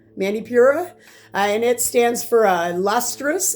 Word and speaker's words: Manipura: And in Sanskrit, it's called, I'm going to hopefully pronounce this one correct, Manipura, Manipura, and it stands for lustrous and gem.